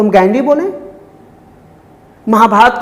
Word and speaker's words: महाभारत: तो हम ये कहें कि वो राम है, रामा नहीं है, वो महाभारत है, महाभारता नहीं है।